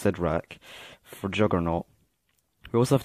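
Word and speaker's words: Cyttorak: for Thor's hammer, and the gem of Sidrak, I think it's pronounced Sidrak, for Juggernaut.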